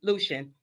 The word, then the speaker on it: Lucian: Is it Lucian? How do you Lucian, pronounce it? yes. Lucian.